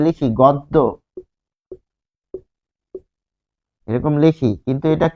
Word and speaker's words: গদ্য: আমরা যে লিখি গদ্য এরকম লিখি কিন্তু এটা কি হবে গদ্য গদ্য গদ্য পদ্য তাহলে গদ্য পদ্য উচ্চারণ হবে গয়ে গদ্য কারণ কি গ এর